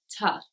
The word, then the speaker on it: to: Also, the word to is very often pronounced with a schwa.